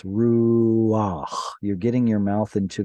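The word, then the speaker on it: רוח: A patach at the end of the word with either a chet or an ayin or a hey, a consonantal hey, is going to have an ah sound preceding it because those letters are historically hard to pronounce. So it's ruach.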